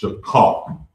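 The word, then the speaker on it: שכר: And it's pronounced shakar.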